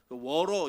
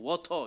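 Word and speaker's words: water: 영어는 다 영국식 발음이에요 워러 이렇게 하면은 해외에서는 아 얘 촌스러운 영어네 이렇게 얘기하고 워터 이래야 어이 사람 되게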